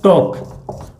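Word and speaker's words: talk: ठीक है, एक उदाहरण है टोक, टोक में भी एल का उच्चारण नहीं हो रहा है।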